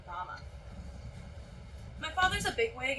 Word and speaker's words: Ramah: It's spelled the same as Rachel's village in the Bible. Hell, it was named for it when Brigham Young's scout found it back in 1876. Except around here, everyone pronounces it Ramah.